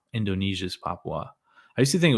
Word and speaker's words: Papua: I believe that province is called Papua. Indonesia's Papua. I used to think it was just Papua New Guinea, but you do pronounce the U in there.